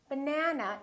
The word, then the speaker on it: banana: say the word banana banana has three syllables let's take a look so we have but na na this second syllable is stressed that means this vowel